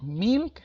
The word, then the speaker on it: milk: Lleva una I, pero traten de no pronunciarla o de no marcarla tanto. No digan milk, como la esposa de Goku. No, es milk. ¿Sale? Casi como si quisieran sacar una E, pero no lo logran hacer.